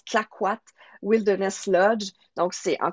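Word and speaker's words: Clayoquot: entendent c'est ça s'écrit Kayoko mais ça se prononce clquat wilderness Lodge donc c'est en Colombie Britannique ça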